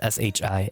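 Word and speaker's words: し: S-I, not S-H-I, S-I. So, looks like C, pronounced like she.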